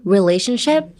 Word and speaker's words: relationship: Emphasis on the RE, relationship.